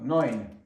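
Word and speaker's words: neun: Так, нойнь. Нойнь дев'ять еу. Знов умлят, щоб не ну буквосполучення, перепрошую. У читається як ой.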